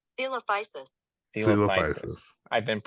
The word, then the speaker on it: Coelophysis: Do you know how to say it? Coelophysis, I think. Coelophysis. Coelophysis. Oh, I guess I added a EO. You were closer than I was. Here, let's listen to this.